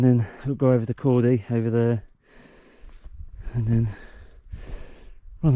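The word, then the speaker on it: Corn Du: I've just been up there, and this is Cordy, or Cordu, I think they pronounce it Cordy.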